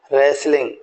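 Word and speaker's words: wrestling: ई तो बोले road रेसलिंग या आर डब्लू आर एस टी ई एल आई एनजी तो यहां भी ध्यान देना है कि टी यहां पर साइलेंट है तो रेलिंग नहीं बोलेंगे रेसलिंग बोलेंगे यस क्या बोलेंगे रेसलिंग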